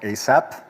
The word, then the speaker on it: ASAPP: It's called ASAPP. That's how we pronounce it.